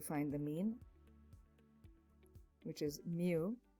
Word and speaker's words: mu: just have to find the mean which is mu mu mu right that's how we pronounce it and the formula given to us